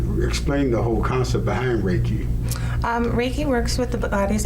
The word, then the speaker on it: Reiki: One of the things that I also noticed was that you have Reiki, is that how you pronounce it? Reiki, yes.